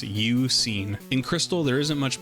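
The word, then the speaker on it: Eusine: an anagram of suun I actually never knew how to say this guy's name until writing the script of this video I had to look it up apparently it's uen in Crystal there isn't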